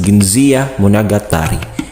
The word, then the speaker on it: Genji Monogatari: the tale of genji genji monogatari pronounced as ginza munagatari is a classic work